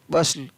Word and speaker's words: bustle: FASTN fasten, तो यहाँ पर भी टी का उच्चारण नहीं है। CASTLE काशल, JOSTLE जोशल, SUSTLE हसल, BUSTLE बसल।